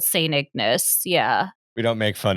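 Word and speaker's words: St. Ignace: It's called St. Ignis. And that's how they pronounce it.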